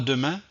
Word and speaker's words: demain: n'ai pas prononcés donc le e qui est à l'intérieur du mot n'est pas prononcé donc on va voir des exemples pour illustrer cette situation alors voici mes exemples samedi à demain médecin samedi à demain